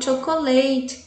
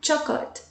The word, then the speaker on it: chocolate: Chocolate mousse, olha como eu pronuncio chocolate. Eu não falo chocolate, tá? É chocolate.